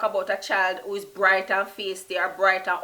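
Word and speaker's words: brite: The next word in Patois is bright, and I spell that just B-R-I-T-E, and a lot of times you'll hear it go together.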